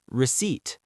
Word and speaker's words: receipt: The P is silent. Receipt, not receipt. Could I get a receipt, please? Receipt. Silent P. Just like psychology.